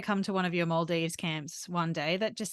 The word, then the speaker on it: Maldives: So, well, it's Maldives first of all, not Maldives.